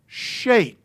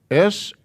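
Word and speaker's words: שת: Therefore, his name is Shayt. S-H-A-Y-T. By the way it's spelled. Shayt.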